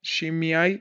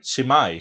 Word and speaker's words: Shimei: Shimei, Shimai. Shemai, como quieran pronunciarlo.